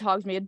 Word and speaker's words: Hogsmeade: Is that how you pronounce Yeah, it? it's Hogsmeade.